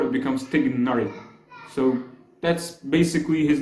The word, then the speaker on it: Tighnari: the original one is tigar making the vowels inside the name fast and short not tigari or tari no it's